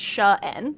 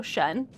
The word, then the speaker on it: Shine: So it's spelled shine, but it's pronounced Shen, just for reference, so Shen.